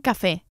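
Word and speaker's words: café: is UN Cafe on Cafe and we emphasize the air vowel on account of the accent which indicates the stress the strong syllable un Cafe and not Cafe un Cafe please is por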